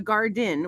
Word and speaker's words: Gardyn: And then there's also one of my other friends has the Garden, which is spelled Gardyn.